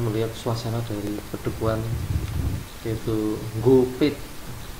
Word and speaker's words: Gopit: suasana dusun tersebut, yaitu Gopit. Mungkin ejaannya tanpa huruf N. Mengapa demikian, Pak? Hanya warga lokal. Oh, orang Jawa menyebutnya dengan huruf NG.